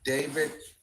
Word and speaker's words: D4VD: David pronounced D4VD pronounced David gained popularity among Gen Z fans for his blend of indie rock, R&B, and lo-fi pop.